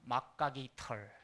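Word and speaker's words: macuahuitl: 이걸 가지고서 이 무기를 만들었는데 이걸 뭐라고 불렀냐면 막가기 털. 막가 그 HUI는요. 기라고 읽어라. 아메리카 원주민 언어를 연구했던 스와디시라는 미국 학자가 있어요. 1950년대 학자인데 이분이 이 HUI는 기라고 읽어야 된다. 걔네들이 기라고 발음했다.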